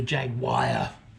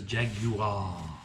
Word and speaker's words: Jaguar: a fraud you know pronounce it as it should be in the country where it's from that's that's really what